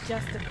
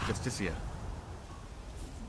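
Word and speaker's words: Justiciar: trust this ass clown he's a justice it's pronounced justicia rigmore even bar and da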